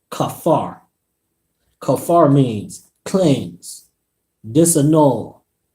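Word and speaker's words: כפר: is the Hebrew word H 37:22 and is pronounced Kafar Kafar means cleanse dissing all forgive be merciful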